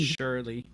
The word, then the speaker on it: Shirlee: Shirley. And it's crazy. It's spelled Shirlee. Shirley. And that's the way they sing it. You're my girlie. It rhymes with girly.